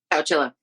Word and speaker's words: Chowchilla: Chowchilla? Chowchilla.